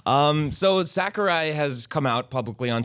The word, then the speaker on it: Sakurai: So Sakurai has come out publicly on Twitter and said that he has been working on the game in silence for a very long time. It's pronounced Zachary. Zachary. Sakurai.